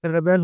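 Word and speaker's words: rebel: एक रेबेल होता है नाउन, ठीक है? एक होता है रिबेल, एक होता है रेबेल, एक होता है रिबेल। ये होता है वर्ब, ठीक है? प्रोनाउंसिएशन में अंतर हो जाता है। ये होता है रिबेल, ये हो जाता है रिबेल। हाँ, नाउन और वर्ब के साथ-साथ इसका जिस तरह यूज़ होता है, उस तरह प्रोनाउंसिएशन में डिफरेंस आ जाता है।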